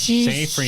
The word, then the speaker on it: Seyfried: Amanda Siegfried. Amanda Seyfried? Seyfried. I have no We'll idea how to never pronounce her last know. name. Oh, Seyfried.